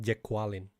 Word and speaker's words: Jacqueline: Also, it's pronounced Jacqueline.